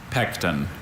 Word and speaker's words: pecten: Pecten. Pect. Are there any alternative pronunciations? Just the one. Pecten. Pecten. And it still has that schwa.